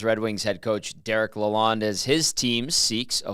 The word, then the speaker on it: Lalonde: Derek Lalonde.